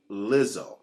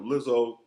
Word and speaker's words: Lizzo: This hot singer Lizzo. Am I pronouncing it right? Yes, Lizzo.